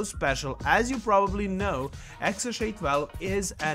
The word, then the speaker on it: XAEA-12: you to elon musk pronounced as xsha12 so regarding their token